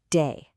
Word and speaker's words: 得: Okay, the first character is pronounced day.